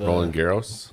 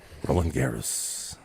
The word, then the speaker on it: Roland Garros: of, Roland Garros. Roland Garros. That's not that sounds more Spanish than French if you say it like that.